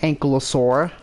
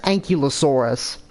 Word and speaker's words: Ankylosaurus: This time, a different Ankylosaurus. When I was a kid, I pronounced them as Ankyulosaurus.